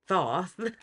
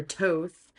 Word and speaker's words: Thoth: It's actually Thoth or Toth. I don't know. Everybody pronounces it. Not everybody. Like it's pronounced differently by different people, and I guess they say that no one really knows. So do what you like.